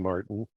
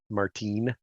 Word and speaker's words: Martin: Keep shooting, Martin. Keep shooting, Martine, rather. I should say his name right.